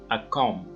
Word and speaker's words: comb: bee is silent okay we don't pronounce it I come by here